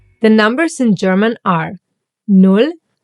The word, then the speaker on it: null: null A double consonant like here, the double L, will mean that the word will get pronounced a little bit faster. Like here in null, for example, or der Ball, or essen. And watch the U. It will always be pronounced like oo. Like in put or boot.